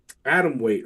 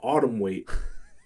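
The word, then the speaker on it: atomweight: He was like, atom weight, right? There was an atom weight fate. He said autumn weight. Autumn weight.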